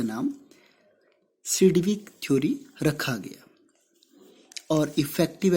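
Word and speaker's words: Sidgwick: और ये इसको हम सिडविक थ्योरी भी कहते हैं, इसमें G साइलेंट है, सिडविक थ्योरी।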